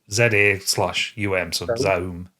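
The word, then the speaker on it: ZA/UM: Which is the new game from Zoom who made Disco Allesium. Is that how we're pronouncing that studio's name? Z. Well, it's Z Aum.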